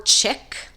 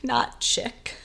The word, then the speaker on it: chic: completely different word and is pronounced Chic not chick so we were running around AOL chat rooms in 1999 with screen names like snowboarder chic 1988.